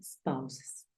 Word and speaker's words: spouses: escriben los esposos entonces Recuerda que se pronuncia spes y significa esposos cuando